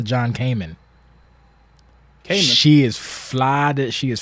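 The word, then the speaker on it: John-Kamen: So yeah, so I actually butchered her name. I got the middle name right. It's actually Hannah John Kamen.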